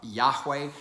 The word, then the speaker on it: Yahweh: uh so we don't we have come to um uh pronounce or guess that the way that is pronounced was uh uh Yahweh because Yahweh would be a third person uh uh form of that verb to be uh meaning he is or he who is the one who is